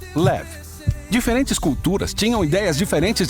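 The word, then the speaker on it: לב: Quem hebraico se pronuncia levad ou na sua forma curta leve.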